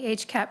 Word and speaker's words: HCAP: Healthcare Access Improvement Program, or HCAP. That's how we pronounce that acronym. So a bit of background on the HCAP program.